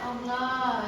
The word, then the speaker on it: Allah: ada bertemu dengan lafaz Allah yang didahului dengan lafaz fathah. Bacanya ada dua, ada berat, ada ringan, atau tebal atau tipis. Contoh yang tebal Allah ya. Contoh yang ringan billahi ya.